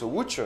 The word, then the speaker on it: Łódź: Oui, ça s'écrit comme ça, mais ça se prononce Łódź.